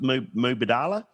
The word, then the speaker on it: Mubadala: sponsor for the last Mubadala? Yeah, How do you pronounce it?